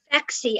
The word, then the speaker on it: Phexxi: Phexi. I think it's spelled Phexxi.